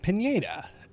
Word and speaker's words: Pineda: are at a fantasy track here that is pronounced Pineda so welcome on in everybody and of course